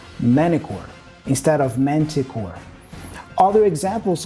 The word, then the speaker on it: Manticore: Whenever you have this combination, N and T, there is a tendency, especially in American English, for us to drop the T and pronounce the N before. So if you listen closely, the actor says Manticore, Manticore, instead of Manticore.